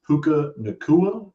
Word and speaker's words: Puka Nacua: My third guy is a dude who's been balling a lot lately too, getting a lot of catches, and that's Puka Nacua.